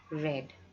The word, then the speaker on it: read: change read read read the spelling of this word is the same but the pronunciation is red here I would like